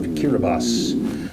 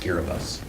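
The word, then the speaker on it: Kiribati: we have this week is the nation of Kira bas composed of a series of atolls driving the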